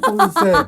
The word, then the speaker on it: Ponce: in Korea, they say Cody her pronunciation was so fluent, they thought she got it wrong lol Cody, Cody~ in Canada and the U.S. Co-dy Pon-cé this is completely correct correct!